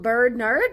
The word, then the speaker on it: Berdnird: Her name is called Bird Nerd, but it's spelled BERDNIRD.